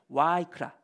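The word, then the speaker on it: ויקרא: 그래서 히브리어로 레위기를 보면은 와이크라 또이 발음에 따라서 히브리어 그 바브를 V로도 있고 W로도 읽죠.이 이 공부하신 뭐 독일에서 공부했느냐 미국에서 공부했느냐 따라서 이게 발음이 좀 달라지는데 어쨌든 예 와이크라 저는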